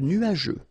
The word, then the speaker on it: nuageux: Remember, final X here, not pronounced.